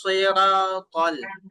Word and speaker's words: الصراط: الصراط المستقيم ইহদে নাস, এই যে সদের উচ্চারণ এটা কিন্তু মোটা হবে, ইহদে নাস সিরাতাল, এইভাবে।